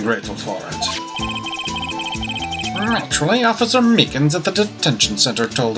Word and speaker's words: Meekins: for it actually officer meekins at the detention center told us oh that poor little doggy poor guy i keep getting his name wrong and call him meekly he told us something